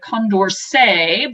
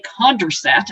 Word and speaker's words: Condorcet: particularly math nerdy is named after someone French named it Condorcet, but being English, we say Condorcet, apparently. I looked up the pronunciation, and apparently in English we say Condorcet, who knows.